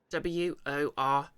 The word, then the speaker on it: Worcester: who can't who are watching the YouTube VOD w-o-r-c-e-s-t-e-r pronounced Worcester the arasan the Sea of silent the